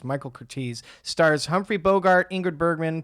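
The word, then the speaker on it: Michael Curtiz: By the way, I've been saying my guy's name wrong for the past few weeks. It's not Michael Curtis, it's Michael Curtis.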